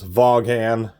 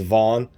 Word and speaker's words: Vaughan: I'm going to say the name wrong a million times. Vaughan, even though it's properly says is Vaughn.